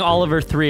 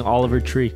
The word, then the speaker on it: Oliver Tree: And I'm not saying Oliver Three. I'm saying Oliver Tree. Oliver Tree. Yep, because that's how we pronounce it.